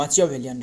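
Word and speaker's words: Machiavellian: वो है एम ए एस सी एच आई है ना मासियावेलियन वी ई एल एल ए आई ए एन है ना मचियावेलियन रे एंड स्लिक हो सकता था।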